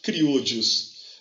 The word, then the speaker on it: criollos: Abaixo dos chapetones havia os criollos, C-R-I-O-L-L-O-S, criollos. Eu sou espanhol, sou da América Latina, então vou falar como se fala na América Latina. Se não gostou, você procura alguém que fala que nem espanhol.